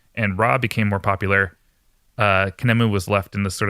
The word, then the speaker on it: Khnemu: That's Khnemu. How do you think spelling it's going to help me pronounce it?